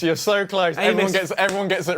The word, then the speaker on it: Amys: My last name's Amos. You're so close. Amos.